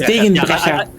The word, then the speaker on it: Degenbrecher: You should be able to pronounce Degenbrecher. I am, but I just sort of defaulted to English pronunciation. I said it, I'm like, hang on, no, that's wrong. But then you said it the Dutch way.